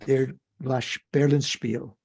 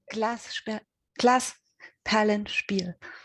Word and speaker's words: Glasperlenspiel: I think I've mentioned in the past, there's a book I liked very much called Der Berlinspiel. Did I pronounce that right, Nadine? Do you know that book? Glasperlenspiel.